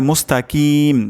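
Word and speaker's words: مستقيم: মুস্তাকিম যদি এমন হয় মুস্তাকিম তাহলে কিন্তু অশুদ্ধ হবে উচ্চারণটি এখানে কফ উচ্চারণটি করতে হবে মুস্তাকিম মুস্তাকিম মুস্তাকিমদিনা সিরাতাল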